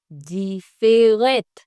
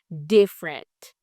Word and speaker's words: different: Pi da ou jam prononce mot ça takou different. No. Mais plutôt, ou dit different.